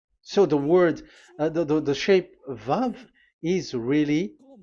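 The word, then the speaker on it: ו: So this is the the line, and it is called the V. Okay. So it's like I, but this is VAV. So the way we read it is VAV. So we wrote it as VAV. We called it as VAV. VAV. Your claw, your mouth is like closed. VAV. So it's V as in Vogue.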